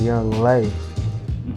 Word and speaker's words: Yung LA: His name was Young Lay. So why they was Young LA is Young Lay. His name was Young Lay, baby.